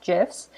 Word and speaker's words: GIFs: is the word gifs is actually supposed to be pronounced with a soft j so as gifs but now everyone calls it gifts i just thought that